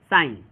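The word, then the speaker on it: sign: देखिए जी के साइलेंट होने का रूल क्या है, जब जी के तुरंत बाद एन आ जाए तो जी क्या होगा, साइलेंट होगा। जैसे यहाँ पे देखिए साइन, ये क्या है, साइन।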